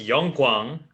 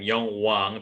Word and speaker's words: Yong Guang: right my name is yong guang you many people many american people pronounce my name yong wang because the k i mean the middle middle g is so weak anyway i'm from korea